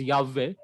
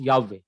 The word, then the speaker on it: Yahweh: But we know that proper pronunciation is Yahweh.